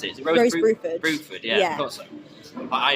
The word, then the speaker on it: Bruford: Is it, how do you pronounce it? Is it Rose Bruford? Bruford, yeah.